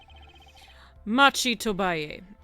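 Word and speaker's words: Machi Tobaye: Machi Tobay.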